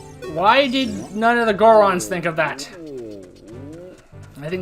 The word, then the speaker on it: Goron: Why did none of the Gorons think of that? I think this is yet more proof of the fact that, well, why Goron rhymes with moron.